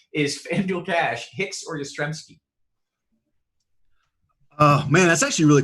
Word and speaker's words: Yastrzemski: I believe we got a Yastrzemski question in, which is notable because last season I pronounced it Wyzermensky. Yastrzemski.